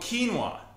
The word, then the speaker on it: quinoa: Oh, quinoa.